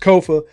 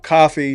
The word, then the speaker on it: Kofa: I have been your humble host, Kofa, Kofa, not coffee, not Kufu, not Kofi, or any variation thereof. Kofa rhymes with sofa, easy to say, easy to spell.